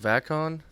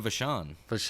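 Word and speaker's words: Vachon: next week's episode is about luna is it pronounced vatkon luna vashon that's uh mad dog vashon uh his daughter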